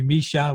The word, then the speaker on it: Micha: say michael but yeah my mom calls me misha which is more like a russian sort of name pronunciation but uh it's good